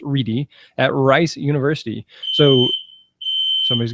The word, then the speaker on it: Ready: us is re spelled ready but pronounced Rey at Rice University so